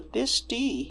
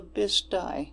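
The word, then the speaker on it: Bisti: Maria reading she read she read the bti but locally we say the bisty and oh my goodness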